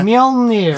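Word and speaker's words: Mjölnir: Mjolnir. Thor's hammer, yes. You have some difficult things to pronounce.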